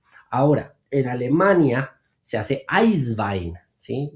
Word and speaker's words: Eiswein: Ahora, en Alemania se hace Eiswein, ¿sí? Es lo mismo, Eiswein, pero Eiswein, simplemente la pronunciación es diferente, donde utilizo sobre todo Riesling y Gewürztraminer, ¿sí?